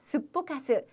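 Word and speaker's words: すっぽかす: 발음도 재밌어요. 스포카시쳤단다요. 이렇게 되는데요. 기본형은 스포카스입니다. 스포카스.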